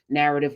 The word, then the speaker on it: Knarrative: being a member of Knarrative, which is the largest Africana studies classroom in the world. Knarrative with a K. The K is silent for knowledge.